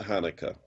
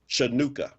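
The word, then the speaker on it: Chanukah: to correct you on air but it's not Hanukkah what did I say not how you pronounce it it's not how you pronounce it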